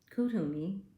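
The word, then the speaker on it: Kuthumi: answer you seek trust what you know kthumi kutumi that's how it's pronounced is an ascended master who appears as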